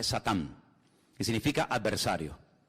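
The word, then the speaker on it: שָׂטָן: La palabra Satanás, que significa adversario, es un nombre que viene del hebreo. En hebreo no se dice Satanás, se dice Satán, que significa adversario.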